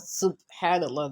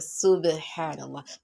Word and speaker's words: subhanallah: Now, this one is not subhanallah that like I've been pronouncing it, but subhanallah, because the ba you apply qalqala.